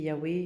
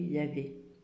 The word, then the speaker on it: Yahweh: donc on n'a pas le droit de le prononcer. Mais sinon, ça se dit Yahweh, Yahvé.